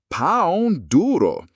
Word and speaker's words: pão-duro: In Brazil, you might hear them called a pão-duro, pronounced pão-duro.